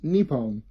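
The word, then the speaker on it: Nippon: actually takes place in Japan or as it's pronounced in japanese new poem and that story borrow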